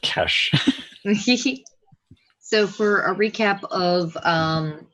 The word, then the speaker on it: Ches: for I'm not sure that's hard or soft turns out it's pronounced cash so for a recap